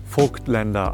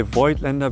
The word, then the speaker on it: Voigtländer: German viewers out there I know it's pronounced folklender I know that okay but we say void lender because we are speaking to an international audience Americans don't know how to pronounce folklender okay you know I don't